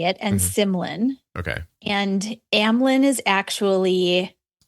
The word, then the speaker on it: Symlin: So it's Amylin, that's how you say it, and Symlin.